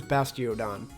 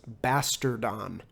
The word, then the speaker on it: Bastiodon: drain finally it was bastiodon by by the way when I was younger I used to pronounce this bastardon why how do how